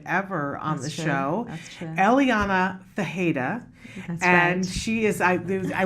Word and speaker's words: Ferreira: like it's spelled but it's that's the correct pronunciation fajita she is the CEO of skills global so